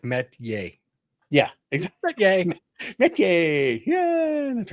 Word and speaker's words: Metchie: Thank you very much, Royce Metchi-Yay. I want to make sure I learn how to say his name properly. So although I might just be Metchi-Yay from now on. Well, he's basically like Metchi-Yay.